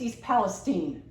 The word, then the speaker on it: East Palestine: name of the town it's East Palestine not Stein and East Palestine off